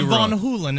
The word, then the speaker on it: Van Halen: what was it Sam Hagar and uh Rie Von holen is actually how it's pronounced van I'll tell I'm going David Lee